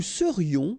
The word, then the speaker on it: serions: Nous serions, final S not pronounced.